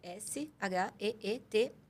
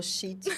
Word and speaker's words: Sheet: É SHEET+. De mais. Ah, tá. Quando você falou shit. Não é Eu já shit, peguei- é sheet. Ok.